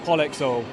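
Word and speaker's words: Polyx-Oil: Oh, it's pronounced Polexol.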